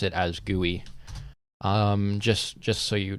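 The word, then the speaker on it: GUI: the chat real quick I pronounce it as gooey like gooey like that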